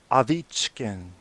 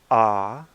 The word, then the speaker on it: Ovechkin: Ovechkin. So if you want to impress OV or your friends, the next time you say Ovechkin's name, say Alexander Ovechkin. That's how they say it in Russia.